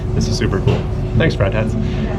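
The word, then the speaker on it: Friedhats: Thanks, Fried Hats. Fried hats, that's how you say it.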